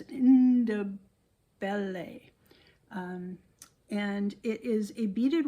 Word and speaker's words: Ndebele: It is, they say it Ndebele, something like that. It's spelled N-D-E, and that N kind of is pronounced, so it's Ndebele.